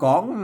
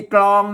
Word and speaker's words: ก๋อง: ตี อ น่ะ เออ เพิ่น อ่าน ว่า ตี ก๋อง น่ะ ตี ก๋อง ใช ไม่ ใช่ ตี กรอง นะ ม อย่า ตี กรอง เ มัน ไม่ ใช่ นะ ครับ พ นา ว่า ยาตี